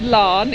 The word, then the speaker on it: Laugharne: It's pronounced Laugharne, even though it has A's, U's, G's, H's, all sorts in it.